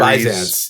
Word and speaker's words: Byzance: Anyway, and then Meinl, someone made the comment, and I could not find a clip of a pronunciation, but the Byzance series. Byzance.